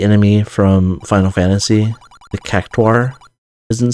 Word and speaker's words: Cactuar: It's spelled UA rather than AU. And I think I noticed it because I was watching something where there was in-game VO and they pronounced it with a very distinct difference. You know, they said Cactuar rather than just Cactar.